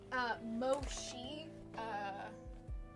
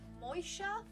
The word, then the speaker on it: Moisha: It's actually pronounced Moisha, but I didn't realize that when I read it. I thought it was Moshi. But no, it's actually Moisha, a traditional Jewish name.